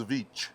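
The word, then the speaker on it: Żywiec: That one is Zavich.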